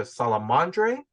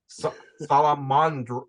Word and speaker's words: Salamandre: Now, people can pronounce it either Salamandre, or I'm going to try to pronounce the French word, and I.N.J., just correct me if I'm wrong. Salamandre. Salamandre.